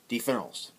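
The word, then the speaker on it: différance: They're both pronounced différence. This is the main way that you would spell différence in French. I'm trying to get down the French R, because it's not very easy. Différence. So this is the way that you would spell difference in French. And however, you would pronounce this one the same way, différence.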